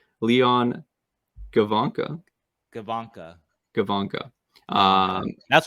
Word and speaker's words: Gawanke: We looked this up to pronounce it correctly. Leon Gawanke.